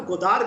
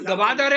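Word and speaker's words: Gwadar: देखिए दीपक जी, आपने कहा कि गोदार में क्या करता है, वो क्या करता है सीपैक के, और उसका नाम गवादर है। गवादर तुम्हारा शहर नहीं है, इट is pronounce गवादर, Punjabi नहीं है, ग्वादर।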